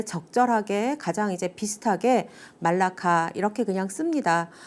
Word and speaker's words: 말라카: 그리고 또 뭐 현지 사람들의 말을 들으면 뭐 말락 뭐 이런 식으로 발음을 하기도 하고요. 근데 이제 우리는 그냥 한국어 발음에 적절하게 가장 이제 비슷하게 말라카 이렇게 그냥 씁니다. 뭐 때에 따라서는 물라카라고 쓰기도 하고요.